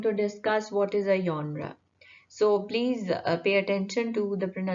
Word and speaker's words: genre: It is genre. It is not genre. Urdu में या जैसे होता है उसको थोड़ा सा soft कर लें.